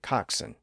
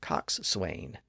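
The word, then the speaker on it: coxswain: words written down they look like they should be pronounced boat Swain and Cox Swain and some people do pronounce them that way today because of the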